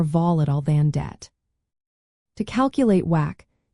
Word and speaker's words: WACC: The weighted average cost of capital or whack pronounced W a CC is a crucial financial